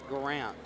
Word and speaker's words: Garant: Keith told me specifically, pronounce it Garant, so he sounds fancier.